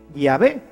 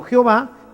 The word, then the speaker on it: Yahvé: Y por eso nosotros sabemos que la pronunciación correcta de Yahvé es así, Yahvé, y no Jehová, que es simplemente una literación.